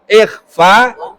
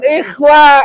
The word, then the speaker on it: ikhfa: Ikhfa bukan ikhwa, idhar hal.